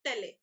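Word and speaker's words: taille: फिर दूसरा टैक्स होता था टेले, ठीक है। तो टेल जो था, टिथिस और टेल, टेले भी बोल सकते हैं आप इसको, बट इसका प्रोनाउंसिएशन है टेल।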